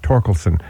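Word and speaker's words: Thorkelson: spells the name different my name is spelled th o r ke LS o n looks like looks like four we pronounce the torkelson we're the only family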